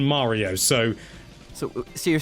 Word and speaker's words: Mario: get the internet upset Mario with a short a is closer to the Japanese pronunciation of Mario it's not the same but it is closer than Mario so so you're saying